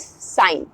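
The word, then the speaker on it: sign: now next word is साइन जैसे ही जी के बा बाद हमने एन का इस्तेमाल किया जी हमारा साइलेंट हो गया और एन साउंड करेगा साइन साइन का मतलब होता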